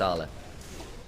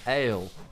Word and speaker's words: Ale: It's pronounced Arla. Yeah, sure. I don't know, someone trips up. The thing is, when he was on AL, it was, some people were mispronouncing it as AL, Ale.